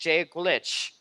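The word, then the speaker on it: Dia duit: Because this is spelled Diaduit. It's pronounced Jaglitch.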